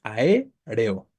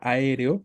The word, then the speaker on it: aéreo: de aéreo es así muchos piensan que son dos sílabas no ae reo Y si yo veo que son dos sílabas qué puedo considerar si pienso que son dos sílabas voy a considerar que es una palabra grave que termina en vocal y entonces no la voy a tildar cuando la realidad es que como lo podemos ver arriba la palabra aéreo está conformada por cuatro sílabas que la sílaba tónica